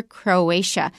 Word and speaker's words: Croatia: not a problem but you've got a TIA in the next country so watch out for Croatia and it used to